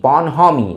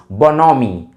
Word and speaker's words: bonhomie: लिखा जाता BONHOMIE, बोनहोमी, बट the correct pronunciation of this word is बोनोमी, बोनोमी, right.